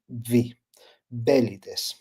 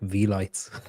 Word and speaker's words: Velites: accent in the first two in the first syllable. V belly. Okay. Does it annoy you when people say it wrong? Cuz like if I was saying it, I would call it like vlights.